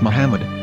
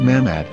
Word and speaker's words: Muhammad: According to Ben Yehudah's Hebrew English Dictionary, it is correctly pronounced as Muhammad, not Mamad.